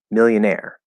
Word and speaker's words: millionaire: go to the dictionary it says that there are two stresses in this word and that it's million millionaire millionaire so the the primary stress is on the second on the last syllable the second stress and